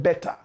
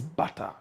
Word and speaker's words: barter: He couldn't pronounce it well. He said better, but the correct word is barter.